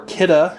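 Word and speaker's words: Kidde: The company refers to their name as being pronounced Kidda, but I think that sounds stupid. I prefer to say it Kid.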